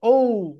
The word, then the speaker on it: O: তোমাদের যারা তোমরা পি স্কুলে পড়ো, কিন্ডার গার্ডেনে পড়ো বা প্রাইমারিতে পড়ো, তারা এটা সবাইকে উ বলো, কিন্তু এটা রাইট প্রোনাউন্সিয়েশন হবে ও।